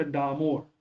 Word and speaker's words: डामोर: तो एक प्रश्न देखिएगा, दामोड़, ये बेसिकली यहाँ पर हिंदी में प्रोनाउंसिएशन गलत है, अंग्रेजी में सही है, इट्स अ डामोर।